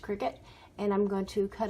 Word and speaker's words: Cricut: circuit, I don't know, I think it's pronounced cricket.